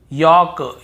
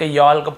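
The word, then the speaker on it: yolk: एल के पहले हो देखिए यहां पर भी हम talk talk walk walk chalk chalk यक यक फॉक फॉक ऐसे पढ़ कहीं पर भी टॉल्ट वाल्क चालक यल्क फॉल्क नहीं पढ़ रहे हैं लेकिन य गलत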